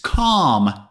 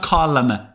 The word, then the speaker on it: calm: storm first of all it's calm L is a silent letter calm it's not column calm but Calm before the